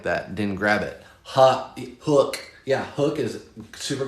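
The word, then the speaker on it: Huk: Gabrielle says Huck is pronounced Hook.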